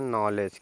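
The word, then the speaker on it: knowledge: silent हो रहा है के के जस्ट बाद एन आ रहा है इसलिए के साइलेंट हो रहा है तो इसको आप पढ़ेंगे देखिए यहां तक हो गया इसमें एक और साइलेंट है डी भी साइलेंट है ठीक है ना और एक ई लेटर ई साइलेंट है तो इसको क्या पढ़ते हैं नॉलेज क्या होता है बच्चों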